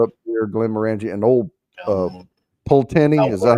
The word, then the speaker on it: Pulteney: Bro says it's Pulteney. Pulteney. Okay. I said it right the first time.